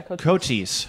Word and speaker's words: Cochise: And correct me if I'm saying it wrong, is it Cochise? Yeah, Cochise. I got it right in the first try.